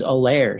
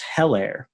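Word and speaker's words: Helaire: in the last game it's edwards a lair so the h is silent rather than edwards hellaire uh how about that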